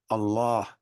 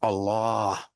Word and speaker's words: Allah: the word in the Quran is to be pronounced Allah that's it not Allah with two A's and Three A's and all